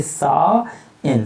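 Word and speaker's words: shine: लिए हमने लिखा सा, और यहाँ एच साइलेंट रहेगा। अब ये जो बड़ा का जो डंडा होता ये इसके साथ में जुड़ जाएगा, तो आप इसको पढ़ेंगे सा इन, साइन का मतलब चमकना।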